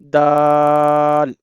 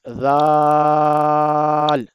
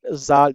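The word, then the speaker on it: دال: Some people pronounce it zal with visual sound wrong. We have to pronounce it without visual sound like dal. Same place to pronounce it. Dal. Tip of the tongue touch your inner edge of the top to upper teeth.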